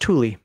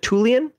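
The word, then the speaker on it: Thule: now it's funny because minor saying this should be pronounced Tuli there's no way is it tulian I'm just going to pronounce a THU for now unless somebody tells me otherwise but uh like the Air Force Base is Tulie it's in Greenland you can look it up uh produces a small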